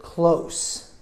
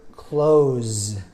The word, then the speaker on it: close: First word, close. Second word, close. So the pronunciation is very similar, but the second word, S, sounds like a Z.